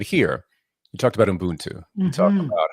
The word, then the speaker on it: Ubuntu: and you mentioned it here, You talked about Ubuntu.